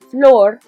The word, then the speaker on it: flor: we've got floor and if you want to think of it as floor like an actual floor that would actually help in pronunciation which stands for a